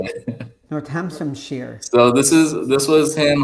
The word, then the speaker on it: Northamptonshire: Northamptonshire.